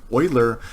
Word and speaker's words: Euler: right here X Y is y this is pronounced Euler and what this means is that it actually